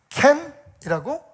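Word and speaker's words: קֵן: 그래서 이 두 개의 글자가 모인 이 히브리어를 둥지, 켄이라고 발음을 합니다.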